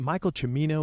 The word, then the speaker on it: Michael Cimino: great commentary it's um it's a is it Michael cimmino is that how you say his name yeah